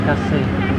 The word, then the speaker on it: Cassis: Actually, it is written as C-A-S-I-S, but they pronounce it as Kasi.